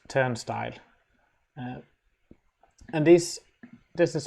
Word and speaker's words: turnstile: backslash v dash and we usually pronounce it turn style uh and this this